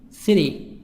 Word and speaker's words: city: City, city. T soft D.